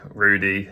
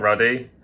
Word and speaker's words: Rudy: wrong the entire time it's Frank Rudy not ready my dyslexia this was